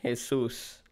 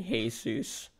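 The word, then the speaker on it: Jesús: I mean because like in Spanish it's his sous mm-hmm and I just tell people to call me hey-zeus because you know people calling me is weird what's the regions of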